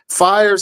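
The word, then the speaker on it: PHIERS: FIRES is an acronym that's spelled P-H-I-E-R-S. The PH makes the F sound, as in like philosophy.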